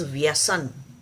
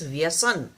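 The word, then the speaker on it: व्यसन: is called as vasana now the vasana is a very is not a correct pronunciation of the real word is vyasan the real sanskrit word is vyasan viesen actually if you have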